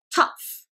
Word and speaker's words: tough: Tough, tough. 여기서 F, G-H가 tough, tough.